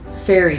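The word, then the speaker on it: Feri: Fairy tradition. Here, fairy is spelled F-E-R-I, but yes, we are talking about the stereotypical small-winged people, fairies.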